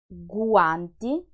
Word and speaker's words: guanti: Guanti, guanti means gloves. Guardare, guardare is the verb to watch. Lingua, lingua is the tongue. Guanti, guardare, lingua.